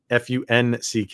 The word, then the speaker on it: Funk: Uh but I think they're pronouncing it wrong. Uh Lenus, Fu Nk is how you say spell his last name, but it was pronounced funk is how you say it.